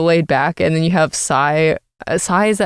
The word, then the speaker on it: Sai: think they were saying say so let's call it say everyone was saying say so we'll say say as well we'll say say say